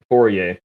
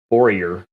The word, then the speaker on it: Fourier: cool gangster named joseph fourier whose name i usually pronounce exceedingly american as warrior but he is nonetheless